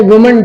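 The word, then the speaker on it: women: जैसे वुमन teacher, वुमन teacher, तो विमेन teachers, तो इसका जो प्लूरल बनेगा, तो वुमन का जो बहुवचन होता है उसको हम लोग विमेन प्रोनाउंस किया करते हैं।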